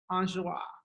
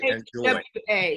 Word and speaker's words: Enjoie: Enjoie. Enjoie. It's like, because I would look at it and say enjoy.